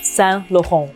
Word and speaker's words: Saint Laurent: And I mean, the second and the third word, okay, don't pronounce the T because it's the end of the word.